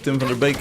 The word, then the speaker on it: Tim van der Beek: Tim van der Beek, if you pronounce his name in Dutch.